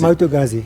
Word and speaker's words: Moto Guzzi: how do you pronounce it? Moto Guzzi? Moto Guzzi.